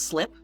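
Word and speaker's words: slype: Right, it's called well, it's spelled S-L-Y-P-E. I'm going to assume that's pronounced slip.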